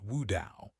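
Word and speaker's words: 悟道: In Chinese, mist blade is pronounced Wu Dao, almost exactly as the pronunciation of Tao enlightenment, which is Wu Dao.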